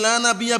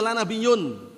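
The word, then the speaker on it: لا نبيَّ: La nabiyya bacanya, ingat-ingat ya yang belajar nahwu. La nabiyya ba'di. Mereka ubah bacanya bukan la nabiyya, la nabiyyun.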